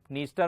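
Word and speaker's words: Dniester: ये है यूरोप के अंदर जो इतनी भी डी से स्टार्ट हो रही है, निपर में भी डी स्टार्ट है, डी साइलेंट है, नीस्टर में भी डी साइलेंट है।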